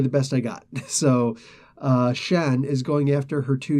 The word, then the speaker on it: Xi'an: and I apologize but I do know that the ex I ' a n is Shan because they actually do sound it out and pronounce it in other ways but yeah that's really